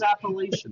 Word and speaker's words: appellation: No, not spelled CH. That's not appellation. I just wasn't going to correct you. Appellation. How do you say it? Appellation. It's more like the appeals.